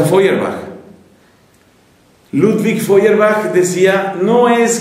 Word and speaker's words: Feuerbach: o sea, Ludwig Feuerbach, que se escribe feuer, feuerbach y se pronuncia Fuerbach.